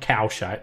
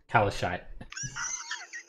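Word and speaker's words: Calishite: Not Kalshite, but Kalashite.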